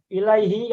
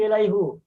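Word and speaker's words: إِلَيْهِ: Contoh yang lainnya lagi ilaihi apa ilaihu? Ilaihi. Ilaihi. Kenapa ilaihi tidak ilaihu?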